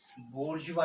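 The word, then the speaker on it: bourgeois: Middle class के लिए French में जो लफ्ज़ यूज़ होता है वो है बोर्जवा, BOURGOISE, बोर्जवा इसको प्रोनाउंस करते हैं।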